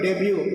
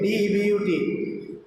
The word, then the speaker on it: debut: In the same way, a word like debut, D-E-B-U-T, they always say debut, just like Shankar Bhatt, it is debut. They never say debut, it's a French word.